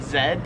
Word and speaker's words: Z: the letter z so i pronounce it z as i just said but in australia they pronounce it zed the next letter is